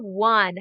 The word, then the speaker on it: one: o n e okay so the n is still making the n sound but this o and e are kind of together making the sound it's very very tricky